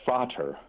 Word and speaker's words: Frater: First of all, I have to ask you, the name Frater, what does that mean, sir? It's actually pronounced Frater.